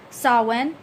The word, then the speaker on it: Samhain: all this for yourself Samhain can also be pronounced saw when some people do speak of that they also speak of it as Samhain I do know there's